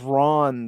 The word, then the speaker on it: Ran: of the violence yeah ran and I think it's pronounced Ron though and we went to